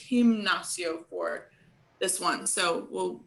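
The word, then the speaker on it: gimnasio: have el himnacio though in spanish uh the g's are often um well g's combined with certain vowels are often uh pronounced with the soft sound the h sound and this is one of those occasions so it won't say you won't say nacio you'll say him like with an h him nacio for this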